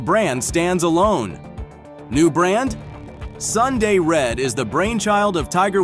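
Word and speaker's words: Sun Day Red: of the brand itself despite being pronounced as Sunday red it's spelled out as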